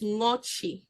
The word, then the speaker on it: Ngoche: And Ngoche is properly pronounced Ngochi, and it just means pierce through water.